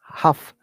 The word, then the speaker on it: half: Half. Half past. Very good. Half past three. L is not pronounced.